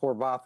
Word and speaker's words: Horvath: trying to confuse Blake Horvath. It's pronounced Horvath in South Bend, actually. A South Bend Hungarian name. But Horvath has been really good this year.